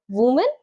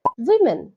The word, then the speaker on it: women: কি বলবে? উমেন, কারণ লেখা তো তাই আছে, কিন্তু না, সঠিক উচ্চারণ হবে উইমেন। উইমেন।